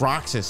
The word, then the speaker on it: Roxas: It's Roxas. See, it's just, see, Roxas. Get it? His name is spelled Sora, but with an X in the middle.